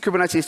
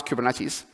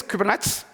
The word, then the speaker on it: Kubernetes: how to pronounce kubernetes any French people in the room no okay so French people is kubernets most most of the time um I mean it's funny because it's it's a Greek word so we don't expect people to know how to pronounce it but it's just interesting